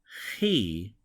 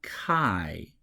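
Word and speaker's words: χι: is the F sound the letter he not Chi he has sort of the sound of law in in Scottish English or in BA as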